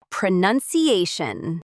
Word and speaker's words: pronunciation: There's no noun in pronunciation. Even though the word pronounce has an u n in it, English logic.